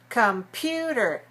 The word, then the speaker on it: computer: Computer is stressed on the second syllable. 3 syllables stressed on the second. Computer. Computer. Good. Now, the first syllable is weak. So instead of saying calm, you have to say kum, kum. Very short, very weak, reduced, compressed the sound.